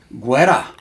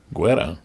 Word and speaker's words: guerra: Guerra. Guerra.